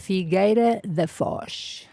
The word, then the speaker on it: Figueira da Foz: I don't want to mispronounce what part of Portugal can you pronounce? Figueira da Foz.